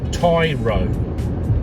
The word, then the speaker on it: taro: how you pronounce it, taro. So we'll see what the answer is up here and see how close it was to that one. No, there you go, tie row. Tie as in bow tie and row as in row a boat.